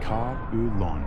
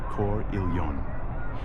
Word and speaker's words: Carillon: By the way, it's pronounced kulon, not core illon.